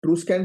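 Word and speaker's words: Etruscan: मिलता है ट्रू स्कन ट्रू स्कन civilisation right it स्कन नहीं बोलते इसको इसको एक्चुअली ट्रू स्कन बोलते य साइलेंट हो जाता है तो इसी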